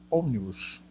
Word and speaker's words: ómnibus: Ómnibus, antepenúltima sílaba.